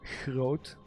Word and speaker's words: groot: language, the you know, groot. The sound is not present in every part of the Netherlands. There are parts that have a more, we call it the soft G. It's more like groot.